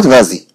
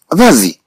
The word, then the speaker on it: vas-y: سو S ne fait pas partie de la terminaison et prononcée dans la liaison. ثم أنها تنطق في الربط. طبعا لا ليزون سواء كان T أو S أو حرف آخر أنه ينطق. Par exemple quand on prononce vas-y. مثلا عندما ننطق عبارة فازي كنت نبرونونس فازي.